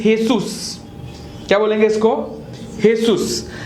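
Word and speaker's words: Jesús: इज जीसस in English but in Mexican this is हेसू क्या बोलेंगे इसको हेसू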